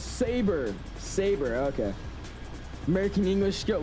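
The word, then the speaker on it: SABRE: Oh, it's Saber. Saber, okay. American English, good lord. I'm over here pronouncing stuff I've never heard of in my life, and I'm supposed to instantly pronounce it right.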